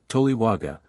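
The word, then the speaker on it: toliwaga: object owned thus the compound word pronounced without Hiatus towaga means owner or master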